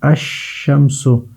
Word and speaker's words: الشمس: وہ ہوتا ہے القمر۔ اور الشمس میں دیکھ لے الشمس، تو یہاں پر الف لام جو ہے اس کا تلفظ نہیں ہوتا ہے بلکہ الشمس، یہ اس کے ساتھ ہی پڑھا جاتا ہے، یعنی ان کو پڑھتے